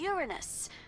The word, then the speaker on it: Uranus: planetarium they're searching for Uranus that's funny I don't mean to be a prude but please no jokes about Uranus the proper pronunciation is Uranus it's a dactyl sorry Friday oh I